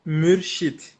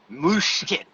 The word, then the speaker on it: Murshid: turkish people okay and because its origin is actually arabic it is called murshid i'm gonna try it i'm gonna butcher it moosh kid yeah you are actually